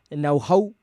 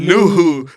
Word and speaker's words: Nouhou: They got Philadelphia's and Baizao and Seattle's No-Ho. That's how you pronounce it. I mean, you're not helping me, dog. You like said it's Nuhu.